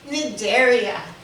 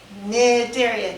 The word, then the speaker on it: Cnidaria: let me up uh nidaria nidaria do not pronounce the C it's n area all